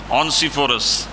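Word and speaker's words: Onesiphorus: ऑनिसफोरस, इसकी जो एक और प्रोनाउंसिएशन है ऑनिसफोरस।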